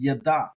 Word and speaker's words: ידע: So the word of the day for this episode is yada, yada, and that is spelled yod dalet ayin, yada, and this means to know.